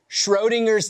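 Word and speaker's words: Schrödinger: Schrodinger's Text.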